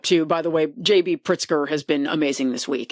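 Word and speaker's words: Pritzker: JB Pritsker.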